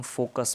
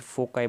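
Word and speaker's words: foci: बोलते हैं या फिर फोकाई बोलते हैं, बिकॉज एक से ज़्यादा फोकस पॉइंट है तो फोकाई भी बोल सकते हैं या फोकी पॉइंट बोल सकते हैं, what ever, pronunciation different different है सबके, राइट।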